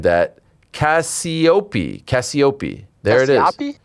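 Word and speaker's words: Cassioppi: THERE YOU GO AGAINST TONY CASPIO. NOPE. BUTCHERED THAT CASIOPEA CASIOPEA. THERE IT IS. CASIOPEA SOUNDS LIKE. SOUNDS LIKE AN ITALIAN NAME.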